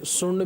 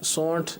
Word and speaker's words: سونٹھ: جی, ادرک, خشک ادرک, اس کو بعض لوگ جیسے سنڈ بھی کہتے ہیں. سونٹ. جی جی, اور سونٹھ اس کا تلفظ ہے.